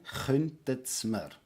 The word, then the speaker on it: könntet Sie mir: So we have the könntet Sie mir, which will be glued together as you pronounce it as one word, könntet's mir. Again, könntet's mir.